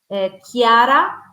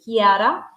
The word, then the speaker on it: Chiara: they can find me on LinkedIn, Chiara, Chiara, Chiara, although it sounds like a K, but it's Ippoliti, Ippoliti, Ippoliti, and that's me on LinkedIn.